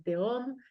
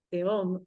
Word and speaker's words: Tehom: y me dijo, "Dalia, ¿por qué escribes la palabra teom con J?" como si fuera home, ¿no? pronunciándolo así, cuando en realidad la palabra de eh es con he dijo eso, automáticamente, yo